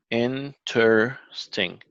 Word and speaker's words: interesting: Interesting. Okay. Okay. And you see here, we're stressing the first syllable. So we don't say interesting, we say interesting.